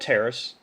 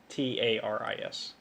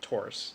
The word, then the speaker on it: Taris: to get a new planet called Terrace or Taurus, depending on who you ask. Mm-hmm. Terrace, I would say. Well, it's usually pronounced Taurus by like the nobles. Ah. But the nobles are jerks. Anyways, And the only way we acquired said Taurus is with a Pokeball. Taurus, Taris, not Taurus like a bull.